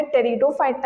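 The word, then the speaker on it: Pteridophyta: ब्रायोफाइटा पी से यहां पे पी साइलेंट है लेकिन टी यहां पे टेरिडोफाइटा है तो पी से लेकिन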